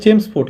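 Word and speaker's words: Chelmsford: Actually উচ্চারণ হবে চেমসফোর্ড, কিন্তু এখানে ইংলিশে চেমসফোর্ড এরকম হয়, চেমসফোর্ড।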